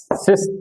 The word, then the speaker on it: cis: cos short में देखो, short में कैसे लिखा जाएगा, cos theta plus iota sin theta को हम CIS लिखेंगे, सी आयोटा s, सिस पढ़ेंगे, क्या पढ़ेंगे, pronounce सिस theta, C फॉर cos, S फॉर sin, I for iota.